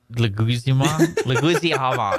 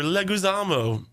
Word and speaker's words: Leguizamo: Also, on last week's episode, how did you pronounce John? How did you say his last name? Leguizamo.